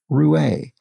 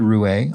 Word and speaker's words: roué: crossword mentor, my mother, taught me that R-O-U-E was pronounced Roué. There's probably a missing accent on the E. So this was, yes, Roué. I said Roux, and then I said, oh, maybe it's Roué. And I wasn't really sure, but it is indeed Roué, R-O-U-E, with an accent over the E.